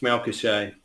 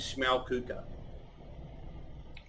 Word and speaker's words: Schmalkuche: nice french influence to it i think it's malcolm shane but apparently the correct pronunciation is shmaokuka very nice well again welcome welcome on the